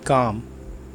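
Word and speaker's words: calm: बी काम। बी काम। इसमें एल साइलेंट होता है, आप प्रोनाउंस इसको इस तरह से करेंगे, बी काम।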